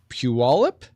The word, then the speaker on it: Puyallup: And Dustin is a pastor at in Puyallup.